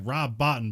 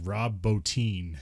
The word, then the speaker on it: Rob Bottin: It looks like Rob Bottin, but it's like Rob Bottin is how you say his name.